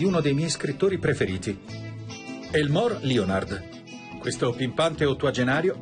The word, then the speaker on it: Elmore: All'epoca mi chiamavo ancora Elmore, ma la maggior parte delle persone pronuncia male il mio nome. Dicevano Elmer o Elma. Nessuno diceva Elmore.